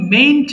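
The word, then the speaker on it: mayn't: খেয়াল করেছ তাই না সবু কিন্তু মেইন্ট বলেছে উচ্চারণ কিন্তু অবশ্যই মেইন অনেকে ভুল করে মেইট বলে এন এর উচ্চারণ অনেকে করতে পারে না বা করে না সো এটা কিন্তু ভুল হবে এটা মেইন্ট সবাই পড়ো দেখি বাবারে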